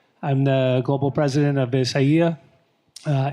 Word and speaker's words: Isaia: is James Shay I'm the global president of isaya uh isaya um pronounced uh is a Neapolitan luxury clothing brand